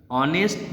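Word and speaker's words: honest: ऑनेस्ट में H silent है तो साउंड ओ से हो रहा है, ऑनेस्ट का मतलब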